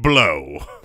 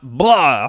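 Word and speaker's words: Blough: I believe it is pronounced David Blow. I don't know for sure. Yeah. Is that how you would pronounce that, Mike? B-L-O-U-G-H? I would. Not blah. Blah.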